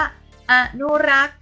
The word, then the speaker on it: อนุรักษ์: ๆ ถูก ต้อง ค่ะ อนุรักษ์ ตัว นี้ ก็ มี ต่อ ฤาษี การันต์ ด้วย นะ คะ มา เติม อ่าน ว่า อนุรักษ์ ค่ะ ถูก ต้อง นะ คะ